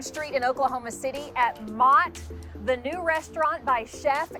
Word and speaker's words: Maht: Like you see Mott, I think everybody when they see it, it's Mott.